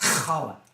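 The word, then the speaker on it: challah: he was making with Chala bread it's pronounced kala whatever I I need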